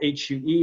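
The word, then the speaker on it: Huế: From Ho Chi Minh, you go up to Hue. It's spelled H-U-E, but it's pronounced Hue, as in W-H-A-Y.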